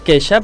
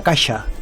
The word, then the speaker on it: Kesha: Queixa, es diu queixa, es pronuncia queixa. Sí, com queixar-se. Val, jo deia caixa.